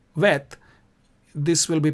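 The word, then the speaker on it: ב: So this would be Bet, and without a dot is pronounced Vet.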